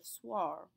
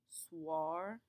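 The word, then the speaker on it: soir: or swar meaning evening the key to pronouncing this is that oi the oi combination in French will always make a w sound B here how it kind of sounds like a w swar it's a very very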